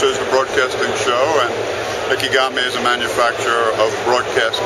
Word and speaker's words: Ikegami: Ikegami. And show us this camera and tell the ordinary person what it can do. Okay. This is a broadcast camera. This, of course, is the broadcasting show. And Ikegami is a manufacturer of broadcast cameras.